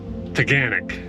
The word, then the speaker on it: Taughannock: it's pronounced yes and it's like organic except with a t toganic there we go so